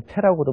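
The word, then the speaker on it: 背: 배이블하면 등지고 있으면은 보이지 않는다는 뜻인데 여기에 배자는 예전에는 흔히 패라고도 많이 읽었습니다. 근데 요즘에는 사전 같은데 보면 주로 다 배라고 돼 있기 때문에 그냥 배라고 읽으셔도 괜찮을 것 같으네요.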